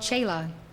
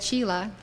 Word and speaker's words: chela: obedient to his guru the word chila in Hindi is called chela if you you if you wish to use that correct pronunciation you are welcome to